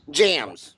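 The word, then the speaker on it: JAMSS: protocol do what you you uh phonetically say jamus protocol or jams jams okay jams protocol so jams stands for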